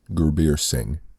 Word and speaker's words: Gurbir Singh: Twitter and oh okay and just to I'll spell that forum listeners G you are be i-r-s I n G H GU beer sing and you say that so well creased alright